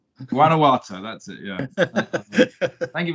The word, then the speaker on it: Guanajuato: You make it too hard to pronounce. It's Guanajuato. Guanajuato, that's it.